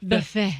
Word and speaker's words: buffet: The buffet. Well, even more specific. Why were you tepid in saying buffet? Because it's a French word, and I was saying it with a French accent.